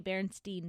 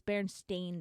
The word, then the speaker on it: Berenstain: And I even say Berenstain Bears. Well, apparently it's spelled with an A and not an E. So it's Berenstain Bears.